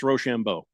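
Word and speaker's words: Risacher: one I I did look up the actual pronunciation for uh Zachary's last name uh and it's roshambo it's actually that's a very that's a very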